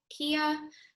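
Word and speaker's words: Quia: paid platform it's called i actually don't know how to pronounce it kia it's q-u-i-a it's part of the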